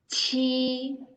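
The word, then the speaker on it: q: Okay, then the second one, push air out, we're reading Chi. Yes. Chi over there, not okay. Chi over there is like you're reading the English letter cheese. Cheese over there. Okay. So push air out. Yeah, once you remember cheese, so you remember the pronounce chi over there. Okay, just the front one, you read stronger. So chi.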